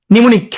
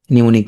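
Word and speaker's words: mnemonic: ওকে, নিমোনিক, তাহলে এখানে প্রথমে উচ্চারণ হয় না, হ্যাঁ নিমোনিক, এই অব্র আসার কারণে তোমার আরো শিখা হয় না। নিমোনিক, হ্যাঁ নিমোনিক, প্রথমে উচ্চারণ হবে না, নিমোনিক।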